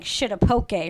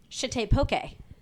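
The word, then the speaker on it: shitepoke: It's probably pronounced like shitta pokey or something. Well, s h i t e p o k e shite pokey. Fine. A shite pokey.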